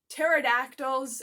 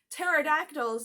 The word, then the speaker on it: pterodactyl: Yes, the "P" is silent.